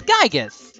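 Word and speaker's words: Giygas: me some stuff like how Gigi is pronounced as gigas that's very simple and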